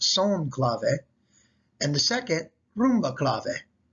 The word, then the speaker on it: son clave: though it looks like san clave is actually pronounced son clave and the second rumba clave these can then